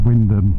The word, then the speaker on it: Wymondham: Actually that's spent Wymondham, but and I think the one in Leicestershire might be called Wymondham, but round here it's pronounced Wyndham.